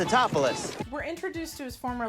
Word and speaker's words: Tatopoulos: his name it's funny dr. Nicholas it's Tatopoulos it's a topless it's Tatopoulos we're introduced to his